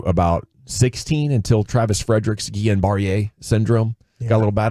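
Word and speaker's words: Guillain-Barré: from 14 through about 16 until Travis Frederick Gan barier syndrome got a little bat on him but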